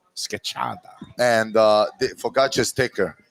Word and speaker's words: schiacciata: We call it schiacciata. Scacciata.